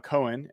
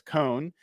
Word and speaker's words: Cohn: today, Grant Cohen, um, who I've been calling Cohen, it's Con uh, from the Cone Zone.